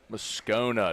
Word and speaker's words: Moscona: Moscona. It's a long O. Scona, like a breakfast scone.